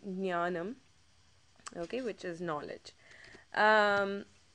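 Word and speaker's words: ஞானம்: G but it's almost silent so you say ganam okay which is knowledge um also in um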